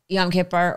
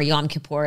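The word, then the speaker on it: Yom Kippur: explain to me uh yam Kiper or yam kapor as you're supposed to say it but I always say it wrong I go well let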